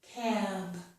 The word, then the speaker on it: cab: Cap, cab. So I lengthen the vowel sound A in this word. I lengthen it because A comes before B.